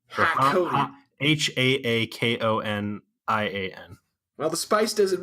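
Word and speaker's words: Harkonnen: I kept wanting to say Harkonian every time I watched it, just because it's not Harkonian, it's Hakonian. Hakonian.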